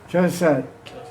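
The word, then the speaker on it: चौंसठ: Chosat.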